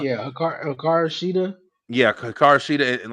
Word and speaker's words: Hikaru Shida: Hakura? yeah, Hikaru Shida.